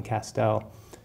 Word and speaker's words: Castel: my name is Castel I say it rhymes with pastel maybe I say my